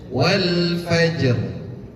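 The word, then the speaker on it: والفجر: Tambahin r sukun. R. R. R. Jadi bacanya wal fajr. Qalah dulu. Habis itu timbulkan takrir. Takrir itu salah satu sifat yang dimiliki ra. Takrir itu pengulangan.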